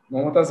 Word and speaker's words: মুমতাজ: হ্যাঁ, শাহজাহান, তাজমহল, যার জন্য তৈরি করছিল তাজমহল, মমতাজ বানানটা উইকিপিডিয়া থেকে নেওয়া, যেটা এরকম আর কি, আমরা মমতাজ বলি যে আসলে গান গায় নাকি, সে নামটা হবে মুমতাজ, MUM তাজ।